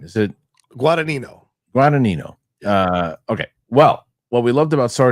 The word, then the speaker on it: Guadagnino: Luca Guadagnino is set to direct the World War II movie from a screenplay from Justin Kirkitz, who scripted.